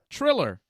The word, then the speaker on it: Triller: But there's no double E. Triller. What? What are you guys talking about? Triller. How you Triller, spell it? man. Triller. Yeah, that's what I said. Thriller. You're saying Thriller though, Exactly. like Thriller. You know, Michael Jackson. That's not what it is. No, we're not.